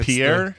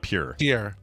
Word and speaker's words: Pierre: oh yeah Pierre Henry Pierre not pure Pierre it's this thing we're